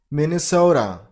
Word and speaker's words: Minnesota: Number 23. Minnesota. Min. So, the stress on the first syllable.